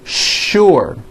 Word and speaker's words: sure: not know is that there are some words in english that are written with the letter s but are pronounced with the sh sound words like sugar and sure and to make things